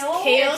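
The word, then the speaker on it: Chaol: to like figure out what how do you pronounce CH kale kale she just told me this yeah I thought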